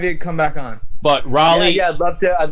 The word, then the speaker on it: Raleigh: that right away yeah a lot of people say rolly too but uh raleigh like uh like north carolina what did i say